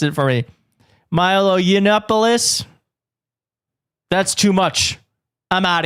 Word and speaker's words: Milo Yiannopoulos: Arresting Milo someone pronounced it for me. Milo Yiannopoulos.